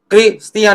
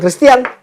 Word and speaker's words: Kristian: Tapi kalau ini harusnya bacanya Kristian dong ya, harusnya bacanya. Iya. Kristian, harusnya ya. Iya. Bukan Kristen.